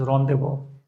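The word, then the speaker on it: rendezvous: redeendo mind the pronunciation it has to be spoken as rendevo I guess it's a French word and rendevo the meaning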